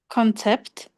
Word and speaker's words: concept: Concept. Concept. Yeah. Concept. The first syllable stress.